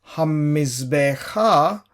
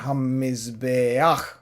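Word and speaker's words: הַמִּזְבֵּחַ: Which is why we don't pronounce hamizbecha, we say hamizbeach, mizbeach, not het aleph, not het and a sound, but a sound and then het.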